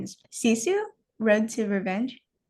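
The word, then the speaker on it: Sisu: Cisu Road to Revenge. Oh, yeah. Yeah. Yeah. The You're pronouncing it right.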